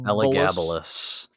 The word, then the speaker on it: Elagabalus: Elagabalus.